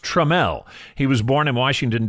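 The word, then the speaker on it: Tramell: stars of the series I always want to midwesternize his name and call him Trammell it's pronounced tramel he was born in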